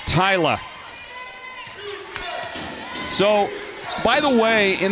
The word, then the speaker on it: Thalia: we receive it it's it's written t h a l i a and and has been every time I've gotten it so the eye is in the other spot and it's Tyla that makes a lot